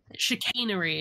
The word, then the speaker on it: chicanery: Chicanery is how it's said.